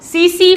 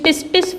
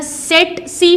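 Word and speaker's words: tsetse: ही याद आ जाएगा, सीसी फ्लाई, जिसको स्टूडेंट्स टिस्टिस फ्लाई बोलते हैं, सीसी फ्लाई। इसको या तो सीसी फ्लाई बोलते हैं या सेट सी फ्लाई बोलते हैं, पहला टी साइलेंट कर देते हैं।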